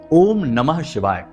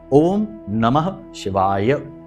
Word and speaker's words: ओम नमः शिवाय: पूरा मंत्र उच्चारण करेंगे बहुत से लोगों को हमने देखा कि मंत्र ही सही नहीं बोल रहे तो काम कैसे होगा मंत्रों में शक्ति है ऊर्जा है तो बोलते हैं ओम नमः शिवा ओम नमः शिवा तो ना तो नमः बोला ना ही शिवाय बोला तो ये गलती नहीं करनी है अच्छे से उच्चारण करना